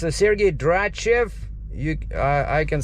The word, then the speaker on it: Sergei Dratchev: what's what was your name yeah it's a sergey drachev you i i can spell it for you once again well we got